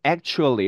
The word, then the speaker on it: actually: 우리는 actually 이렇게 발음합니다. 그렇죠? 실제 발음 교회도 K와 T 발음과 She 발음이 있어서 이 T하고 She 발음이 붙으면서 actually 이렇게 발음할 거라고 생각하지만 실제 자음 세 개가 연결되기 때문에 중간에 있는 이 T 발음의 음가는 발음나지 않는 경우가 훨씬 더 많습니다. 그래서 실제 발음은 actually가 되는 거죠.